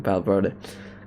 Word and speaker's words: Valverde: Why have I try to be techie saying Valverde, because in Spanish you say the V is pronounced by B.